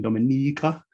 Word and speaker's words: Dominica: know in the eastern caribbean um and the pronunciation dominica just like marika is pronounced uh is in